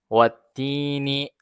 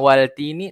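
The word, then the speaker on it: والتين: tasdid nah tasdid lagi maka Alif lamnya ini tidak dibaca wattiniah Bukan waltini tapi wattini nah kita langsung fokus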